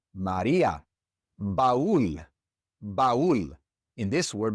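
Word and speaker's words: María: It's the same in Maria. Without the accent mark above the I, it wouldn't be Maria. It would be Maria. But we don't want it to be Maria.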